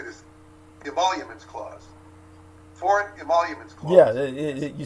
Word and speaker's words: Emoluments: Foreign Emoluments Clause.